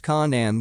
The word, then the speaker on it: Canaan: which eventually migrated to Canaan pronounced Conan with the k sound of the serpents a territory on the